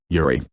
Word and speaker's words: Yuri: By contrast, the word for lily uses a short U sound, Yuri.